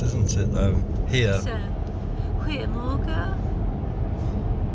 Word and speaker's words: goedemorgen: Goedemorgen. Goeiemorgen. Because they don't pronounce the G. Goeiemorgen.